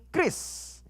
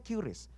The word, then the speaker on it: QRIS: Mengenai Kris. Ingat ya, bacanya itu ya tulisannya memang tulisannya Qris gitu ya. Namun bacanya Kris teman-teman. Macam-macam soalnya. Saya sebelum kesini aja bacanya Qris.